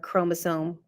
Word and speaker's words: chromosome: before, but the ch we don't say the ch sound in science. I don't know why the ch always sounds like a k. Mitochondria, chromosome, chloroplast.